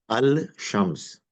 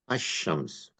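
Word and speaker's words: الشمس: So like for instance al right you will say alab but you will not say al shams you'll say ashams oh you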